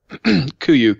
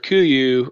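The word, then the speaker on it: Kuiu: Spell that. Kuyu, K-U-I-U.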